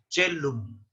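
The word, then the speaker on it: caelum: Se pronuncia como chelum. Como chelum, como la che española.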